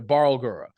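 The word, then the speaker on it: Barlgura: that you might encounter would be like the Bal guro uh or the Bal the barura is is what is how you pronounce it the barura uh it's essentially like a big giant kind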